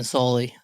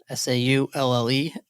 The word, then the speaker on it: Saulle: I've been deleting the E from your pronunciation for years. I'm glad you finally told me. I don't think anyone pronounces it.